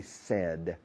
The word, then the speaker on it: said: En pasado, said. I said, you said, para todas las personas. I said, you said, he said, she said, said. Como tengo sed, prácticamente, pero endureciendo más la D, de inglesa, no de española.